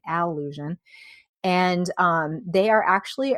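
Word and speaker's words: Allusion: So, it's spelled A L L U S I O N, not illusion, alusion.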